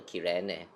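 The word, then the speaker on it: Cyrene: I wonder if this actually means that going forward should I call her a Siren or Kirene? Like personally, I prefer Siren, but Kirene is the correct pronunciation.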